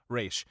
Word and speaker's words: Ra's: what he's going at ra's in the comics or race depending on what pronunciation you want to go with if you want to go with the real one raesh uh but ross all